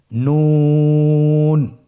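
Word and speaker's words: نون: নুন হরফটি উচ্চারণের ক্ষেত্রে অবশ্যই পাতলা করে উচ্চারণ করতে হবে এবং তিন আলিফ টেনে পড়তে হবে। আপনারা আমার সাথে বলুন নুন।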